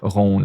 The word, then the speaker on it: rond: Un bateau rond. And then you don't pronounce the D.